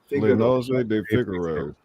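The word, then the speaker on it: Le nozze di Figaro: Le Nozze de Figaro. Yeah, that's not wrong. It's just there's some trilling in the R's.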